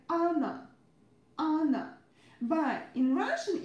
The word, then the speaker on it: Анна: Anna, Anna, Anna. Every time when you see double consonants, you need to pronounce them a bit longer. Okay? Every time make a long consonant sound. It's our pronunciation rule.